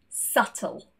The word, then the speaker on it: subtle: And when we see the letters BT together, they are also silent. Debt, doubt, subtle.